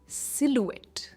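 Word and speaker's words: silhouette: इसे क्या कहेंगे शटी इसकी प्रोनंसिएशन है सिलुएट एक पर इसका स्ट्रेस है सिलट।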